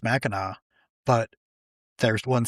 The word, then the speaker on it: Mackinac: They're both pronounced Mackinac, but there's one spelled with a W, one spelled with a C.